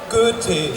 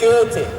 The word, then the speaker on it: Goethe: I just want to tell you the proper pronunciation of the German guy's name. It wasn't terribly wrong. It's Goethe. Goethe.